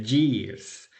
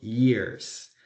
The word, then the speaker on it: years: Un error común es pronunciar years, que es años, como si tuviera una Y, que sería years. Y no, la Y se pronuncia como una I, por eso decimos years.